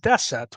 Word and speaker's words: deset: Romanian nine is pronounced DEET and ten is pronounced deset well where does that come from that comes